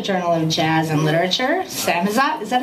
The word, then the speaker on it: Samizdat: Samizdat, is that how you say it? How do you say it? Samizdat.